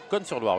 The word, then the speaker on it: Cosne-sur-Loire: Cosne-sur-Loire, oui, pardon, on ne prononce pas le S, joueur de la Nièvre.